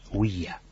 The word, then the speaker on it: Ouija: Pero bueno, sí, Huilla viene de Hui y ya, de la Ya, alemán. Sí, Claro.